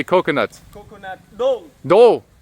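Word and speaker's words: ដូង: Dong. Do. Dong, yeah.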